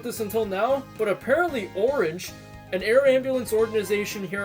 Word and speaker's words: Ornge: I didn't know about this until now, but apparently Ornge, an air ambulance organization here in Ontario, uses Billy Bishop Airport as one of its bases. The A is silent in writing, by the way.